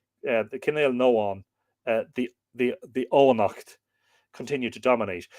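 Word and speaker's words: Cenél nEógain: of the northern Ainail, where the Kinnail Noan, well, it'd be E-O for the G-A-I-N, but the G would be lenited, wouldn't it? The Kinnail Noan, the Oanacht, continued to dominate.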